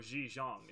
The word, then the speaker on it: Ji Zhang: That would be Ji Zhang. Or Ji Zhang is actually how it would be that'd be pronounced in Mandarin.